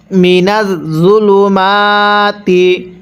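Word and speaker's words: مِنَ الظُّلُمَاتِ: আমানু ইউখরিজুহুম, গুনাহ করব, মিনাজ-জুলুমাতি, মিনাজ-জুলুমাতি। জটা নরম করে উচ্চারণ করব। অনেকেই জকে জিম পড়ি, জকে জিম পড়লে পড়াটা সহি শুদ্ধ হবে না। কিভাবে পড়ব? মিনাজ-জুলুমাতি।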